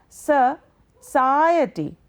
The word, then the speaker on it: society: Generally, we Indians say society, but this is wrong. If we try to transcribe the word, it is S-C-I-E-T. Now, this is the second syllable because in society there are 4 syllables. It is the second syllable that carries a stress.